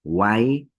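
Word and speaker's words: wayqey: El primer término viene a ser Waikei. Vean cómo está escrita y cómo estoy pronunciando. Waikei, como si estaría escrita con la vocal E, como si la W fuese una Y, ¿no?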